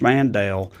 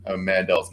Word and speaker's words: Mandel: how to pronounce josh mandel's name because he now pronounces it mandel but up until a couple years ago it was josh mandel for his whole time in public life um he probably thinks it